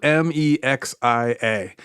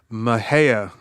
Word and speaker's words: Mexia: So, it's spelled m e x i a. And apparently, Mexia is one way to pronounce it or Maheia is another way. A Maheia. So, it's like Ma or Me.